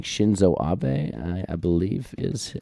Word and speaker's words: Shinzo Abe: and I want to make sure I'm saying Shinzo Abe I believe is how you pronounce it um so he was prime minister